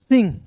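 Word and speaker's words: Singh: तो इसे पढ़ेंगे दोस्तों सिंह एस आई से सी एन है तो ऊपर बिंदी लगा देंगे। एच का ह जाएगा। इसमें जी साइलेंट होता है।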